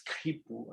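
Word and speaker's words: quipu: You know, correctly written in English is Q-U-I-P-U or K-H-I-P-U, because in Quechua, in the original word, the pronunciation is Kipu and not Kipu.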